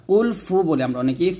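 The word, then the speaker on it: قل: পেশ হু কুলহু আল্লাহু এখানে দেখুন আমরা যে ফুলটা করি কফের জায়গায় আমরা কাফ পড়ি মানে কুল বলি তো শুধু কুল বলা যাবে না এটা কুল বলতে হবে কুল মোটা করে বলতে হবে কুলহু ওয়াল বলতে হবে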